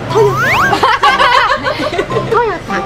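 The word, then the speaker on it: トヨタ: トヨタ、正しくは、正しくはトヨタ、トヨタ、トヨタ、トヨタ、トヨタ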